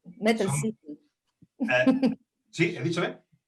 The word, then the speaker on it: Mettelsiefen: No sé si lo he pronunciado bien. Mettelsiefen. Mettelsiefen. Sí, he dicho bien. Mettelsiefen.